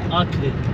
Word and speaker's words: Akre: Akra diye mi okunuyor, Akre mi? Akre. Akre. Evet.